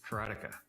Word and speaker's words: Karateka: lot of people say karatica or karatica in Japanese uh there's no stress on any syllable so it would be